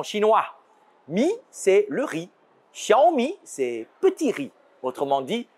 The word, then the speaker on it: Xiaomi: de smartphones en 2021 x en pis se prononce comme ch en français qui signifie petit an chinois me c'est le riz shiomi c'est petit riz autrement